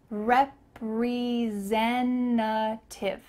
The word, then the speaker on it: representative: I'm a sales representative. It sounds like zen, peace, zen in the middle of this word.